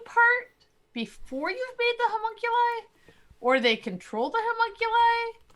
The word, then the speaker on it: homunculi: get it right um hamun kuli how monkey like thank you homunculi that sounds like now yep that's right oh uh okay so